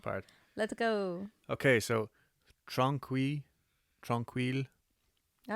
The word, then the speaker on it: Tranquille: Okay, so Tranquille All right. Sanatorium. I did watch something earlier on to say the pronunciation. I'm just going to call it Tranquil. Okay. It's just French for tranquil.